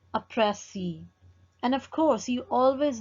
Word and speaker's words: précis: If we will talk about précis, this word comes from French word précis. So say it like this. Précis is basically the combination of two different syllables. In one pronunciation, you can stress the first syllable like prècis, prècis, or you can accent the other syllable.